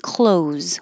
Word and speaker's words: close: her walking ah and close whether it's I'm wearing clothes or a close the door forget the th it's just and forget the S because it just sounds like a z close all right that's